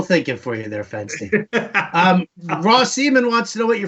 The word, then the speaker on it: RAWCIEMEN: here, and then you tell me how to pronounce this. Okay. Yeah. RAWCIEMEN. Rossiman. There you go. It's like Celebrity Jeopardy. It's like wishful thinking for you there, Fensty. Ross Seaman wants to know what your favorite TV show is.